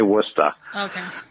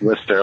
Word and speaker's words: Worcester: I live in because no one can ever say it right it's Worcester while here they say Woodstock right when it's Worcester like what's this year well we appreciate you